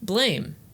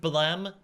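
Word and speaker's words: BLAME!: Ghibli movie and also blame excuse me it's pronounced balem after the sound of the gun no one gives a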